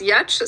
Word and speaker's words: Giertz: The one that pops up is that my last name that is pronounced Giertz sounds like a queef on a yoga ball.